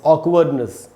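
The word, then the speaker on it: awkwardness: AWK ऑक, WARD ऑकवर्ड, NESS ऑकवर्डनेस का मतलब होता है अजीब लगने की अवस्था।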